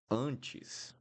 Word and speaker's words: antes: We have an N right here. So the N will always make the vowel nasal. Even if I don't have this little thing at the top, this will become nasal because I have the N here. So, uh, uh, will be exactly the same sound as we do here because I have the N. So, antes, uh, antes.